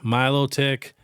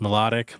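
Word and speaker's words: Milotic: some things up next Milo tick yeah I know it should be pronounced melodic but it's pronounced Milo tick which I cannot stand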